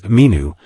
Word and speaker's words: Min: James Allen mentions that the god Min pronounced in ancient Egyptian as minu is an Egyptian god